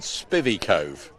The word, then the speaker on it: Spivey Cove: on today and eight i'm told spivey cove is the correct pronunciation and uh aaron butterfield